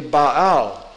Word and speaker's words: Baal: what they mean baal-ism if you were pronouncing that those of you who have studied hebrew here it would be ba'au and the meaning of